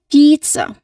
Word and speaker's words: pizza: So um there should be a longer e sound here. So you say it as pizza. Again pizza. Can you all try saying with that long word P here? A long E word here. Long E sound. Pizza. Not pizza. Pizza. That's too short.